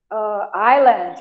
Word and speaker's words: island: island, a gente não pronuncia o S.